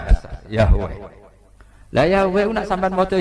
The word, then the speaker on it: Yahweh: Itu nak teng ejaan Latin Y besar A H besar W E H besar Yahweh.